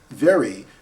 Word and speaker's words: very: one of my lessons in order to make the V sound this lip and this lip should not touch each other at all if